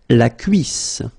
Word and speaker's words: la cuisse: La cuisse, la cuisse, double S and then two vowels before and after. It will give you a really strong S sound, okay?